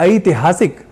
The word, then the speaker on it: ऐतिहासिक: यहां ध्यान देने वाली बात यह है कि संस्कृत में ऐ यह उच्चारण ठीक नहीं। हमें ऐ अर्थात ऐ ऐसा उच्चारण संस्कृत के शब्दों का करना चाहिए। अर्थात ऐतिहासिक या ऐतिहासिक शब्द कहना हो तो ऐतिहासिक ऐसा शुद्ध उच्चारण करना होगा।